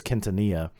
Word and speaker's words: Quintanilla: Others pronounce it Quintanilla. I believe it's Quintanilla.